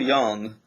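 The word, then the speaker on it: Jung: Um, so Carl Young uh was a psychologist. Uh, Young is spelled J U N G uh who developed this idea of the archetypes based on uh mythology and religion mostly.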